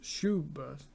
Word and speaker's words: Schubert: it's much older than that written by franz schubert i think that's how you would pronounce it is german and uh it's just